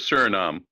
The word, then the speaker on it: Suriname: How do you pronounce that, Greg? Suriname? Is that right? Yes, Suriname.